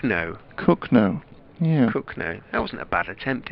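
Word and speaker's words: Cogenhoe: far from Northampton and it's built cogginhoe I don't think it's pronounced so it's pronounced it's spelled c-o-g-e-n hoe you're sorry that's a tricky one isn't it I'm presuming one of the consonants isn't sounded in some way kogo cook no cook no cook no yeah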